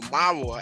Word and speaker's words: Malawa: Malawa, or Marwa as the Negroes pronounce it, to substitute the R for the L, is the next extensive in its limits to Borno.